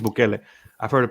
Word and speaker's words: Bukele: Where in El Salvador, the president, Nayib, I'm not sure if you pronounce it Bukele or Bukele. I think it's Bukele.